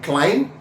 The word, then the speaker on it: climb: in other words, like B is silent in climb, silent in plumber.